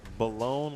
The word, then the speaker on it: Balone: Congratulations to Dylan Balone and his pronunciation, Balone like Post Malone, as he told us earlier.